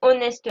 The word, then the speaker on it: honest: Et là, en l'occurrence, honest man, on ne prononce pas le H.